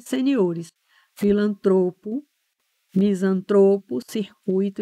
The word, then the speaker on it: circuito: equivocada então é filantropo é circuito não é circuito é fluido não é